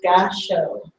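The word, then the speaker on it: Gassho: It's called Gasho. Romanji, in the way that it's spelled in English letters, is G-A-S-S-H-O.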